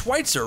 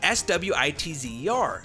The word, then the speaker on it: Switzer: broken down barriers it's it's schweitzer right it's it's s-w-i-t-z-e-r schweitzer thank you so much it's switzer my apologies that's on me